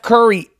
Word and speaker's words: Curry: are you doing Steph Curry's on the road and you run into him Steph Curry whose last name rhymes with flurry thank god he's okay